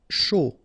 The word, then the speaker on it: chaud: Chaud. Final D not pronounced, and then when you combine this C and H, you get the sh sound. A and U, O.